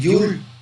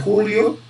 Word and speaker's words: joule: Fíjense que la energía, así como el trabajo, es la misma unidad de medida, el joule, ¿sí? Joule, o también se pronuncia julio, joule, o se escribe joules, ¿verdad?